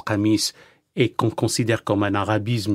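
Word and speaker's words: قميص: la chemise qui finalement en arabe se prononce kamise et considère comme un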